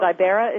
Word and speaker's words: Ibera: Is it Ibera? Is that how you pronounce Ibera her name? Would be right.